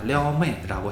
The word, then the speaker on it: 撩妹: 하지만 려메이라고 하면 안 된다라는 겁니다. 려메이라고 해야 되고요.